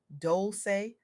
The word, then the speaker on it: Dolce: I'm your host, Dolce, pronounced doulce like sweet softness whispered in French.